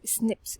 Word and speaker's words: SNP: में बोला गया है एसएनपी which is pronounced S स्निप्स stands for small nuclear